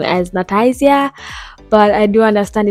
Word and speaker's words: Nataizya: So Nati or Nat, I just pretty much would love if people just pronounce my whole name as Nataizya.